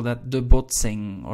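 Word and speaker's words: botsing: we call that the bot sing all right do bear in mind the pronunciation the n and the g at the end are pronounced exactly the same like in english wing sing thing the boxing right we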